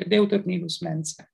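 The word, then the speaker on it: Deuteronilus Mensae: is the area called the deuternillus mensa this is the latin pronunciation and is one of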